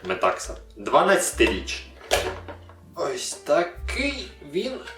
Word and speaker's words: Metaxa: зрозуміти що те що я хочу його читати як метаха неправильно читається він як ми такса 12-й рік так такий